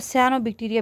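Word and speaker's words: Cyanobacteria: So next हमारे पास जो important topic है दैट इज़ साइनोबक्टीरिया। इसको सियानोबक्टीरिया भी प्रोनाउंस करते हैं।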